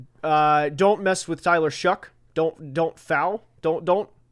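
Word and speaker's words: Shough: Uh, don't mess with Tyler Shuck. Don't don't foul. Don't don't don't uh tough would rhyme with that.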